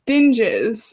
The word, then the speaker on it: Dinges: It's dinges. A lot of people get it wrong, so don't feel bad. Well, I've never asked, so I was like, it's either. I thought it was. It's Dinges, right?